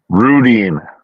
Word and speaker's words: Rudeen: what how do you say your last name randine Rudy what is it Rudin Rudin okay rud um I yes he